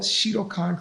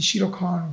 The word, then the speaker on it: Shitokan: it the world listen except i'm saying it correctly the open world shitokan karate championships so the first one this was the first one okay now i wanted people to get confused with the shiro khan world open which is